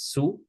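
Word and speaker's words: શું: is frequently dropped frequently the letter H we don't pronounce it so many many many people will say sue instead of shu very very common um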